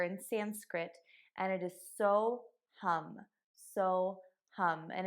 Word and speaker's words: Soham: sanskrit and it is so hum so hum and it is spelled at s-o-h-a-m but you say it hum like hum and all it means